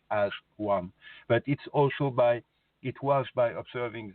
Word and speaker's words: Azwan: But when I didn't want to call it as one like this, so I called it with one word, AZWAN, but it sounds like as one.